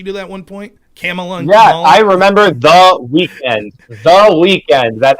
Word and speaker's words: Kamala: Kamala. I remember the weekend that everyone realized how to pronounce her name.